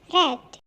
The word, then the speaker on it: read: Jadi penulisannya sama tapi cara bacanya berbeda. Read, cara bacanya seperti nama warna, red.